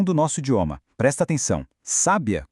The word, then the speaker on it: sábia: Sábia com acento agudo no A é uma mulher inteligente.